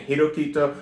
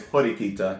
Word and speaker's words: Horikita: say at this time i keep saying hiroquito when it's horikita and i'm very sorry about that i will pronounce her name right one of these damn